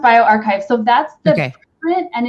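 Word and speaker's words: bioRxiv: were talking about on bio our xiv it's pronounced bio archive so that's the print and it's since been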